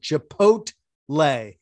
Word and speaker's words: chipotle: once already the t you pronounce the t chipot chipotle pot the tea the tea is not silent it's not silent chipotle and you keep saying